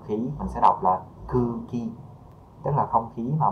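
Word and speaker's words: 空気: chữ khí, đúng không, không khí mình sẽ đọc là cư ki, tức là không khí mà mọi người đang hít thở á, là cư ki thôi.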